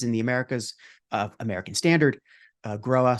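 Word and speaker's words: Grohe: And, you might recognize us from our major brands in the Americas, American Standard, Groa, sometimes pronounced Growy incorrectly, and DXV, and our tile brand called Enax.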